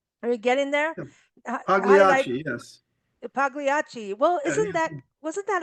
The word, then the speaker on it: Pagliacci: Pagliacci, yes.